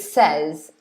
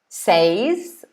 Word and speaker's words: says: And I've highlighted the verb says here because we pronounce it two ways, this verb. Says or says.